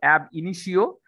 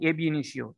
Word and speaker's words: ab initio: or it is called ab initio uh so pronunciation should be app okay it's not like a b initial this app app initiation